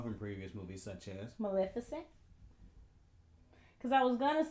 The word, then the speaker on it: Maleficent: I can't pronounce it, so. It's Maleficent.